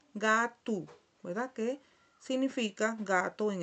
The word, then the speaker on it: gato: Aquí también se da que al final es una o y se pronuncia gatu, ¿verdad?